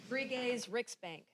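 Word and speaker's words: Sveriges Riksbank: How did they do in their pronunciation? Bell. Bri's Rick's bank. Brigay's Ricksbank.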